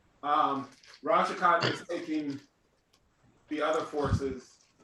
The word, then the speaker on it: Ral Shakat: Ral Shakat. Lord Ral Sauerkraut. Shakat. Okay. 1 EP. Say How you spell less. that? How you spell that? Ral, it's RAL, and then Shakat is SHEKAT. Ral Shakat is taking the other